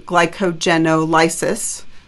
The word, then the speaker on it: glycogenolysis: But then once you run out of glucose that's just circulating in your bloodstream, you're going to have to do glycogenolysis. Glycogenolysis is how you pronounce it.